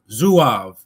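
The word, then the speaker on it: Zouaves: Some of the most famous Civil War units, and those probably with the most distinctive uniforms were the Zoavves, pronounced Zuav.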